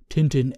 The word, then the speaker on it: Tintin: Tintin A and B named after the belgian comic’s character Tintin or “TinTin” (french pronunciation).